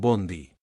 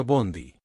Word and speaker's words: bonde: al final y pronunciaron Bondy. En portugués es común agregar un sonido final a las palabras que terminan en consonante. Así Bond se convirtió en bonde, que se pronuncia Bondy.